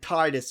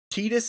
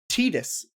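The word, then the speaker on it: Tidus: by the character indicate that it is pronounced tetus in the English version of Kingdom Hearts 2 no no I I have heard Titus is more tetus tetus is the official pronunciation yeah tetus is the official pronunciation honestly I did not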